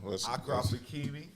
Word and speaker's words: Achraf Hakimi: I can't even pronounce his name. Is it Achraf Hakimi? Yeah. Achraf Hakimi.